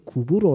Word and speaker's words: 키프로스: 하지만 섬이 하나 있는데 , 성경 에는 키프로스 라고 기록 되어 있고 , 옛날 에는 구부로 라 고 기록 되어 있습니다 . 성경 이 중국 에서 번역 되었기 때문 에 중국인들 은 그 단어 를 발음 할 수 없었고 , 그래서 구부로 라 고 불렀지만 , 실제 발음 은 키프로스 입니다 .